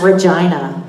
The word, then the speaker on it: Regina: He said, no, and I said, rhymes with fun. She gets it. It's Regina.